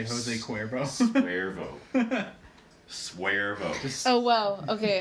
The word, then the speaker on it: Jose Cuervo: Jose Suervo because you don't want to say Jose Cuervo.